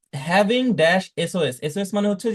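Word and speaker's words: SOS: তো এরকম এসওএস, এটা আমরা একসাথে সস উচ্চারণ করছি না, আমরা বলছি এস ও এস।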